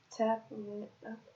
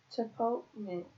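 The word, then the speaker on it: tapotement: Let's see how to pronounce this. Tapament.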